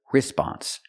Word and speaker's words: response: cannot pronounce the word response the stress is on the second syllable not the first so